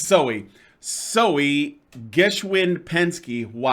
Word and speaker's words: Soe: like Zoe or just Zoe yeah yeah it's pronounced so I was wrong it Oh silly it's Zoey Zoey Geschwind penske Wow what a name made